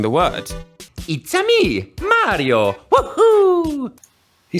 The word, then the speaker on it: Mario: Yeah, he uses the italian pronunciation, and he uses the “ah” vowel which is present in Italian, Dutch, German, Spanish, Portuguese, but unfortunately not in English.